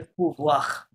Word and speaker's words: pouvoir: pouvoir বলেন, pouvoir।